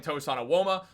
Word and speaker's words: Tosan Evbuomwan: But guys, what do you think about the Knicks signing Tosan Evbuomwan? Let me know down below. That is how you pronounce his name.